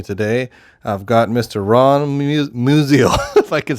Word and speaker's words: Musial: Ron Musial if I could say your name right that's all right it's been getting butchered since I was born so yeah it's museum but you guys on